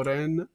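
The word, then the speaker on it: 恋: this is love love ren o si pronuncia Koi o ren Koi è amore Coi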